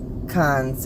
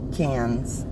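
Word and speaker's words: Cannes: correctly but I then she said it's cons or cans and I know I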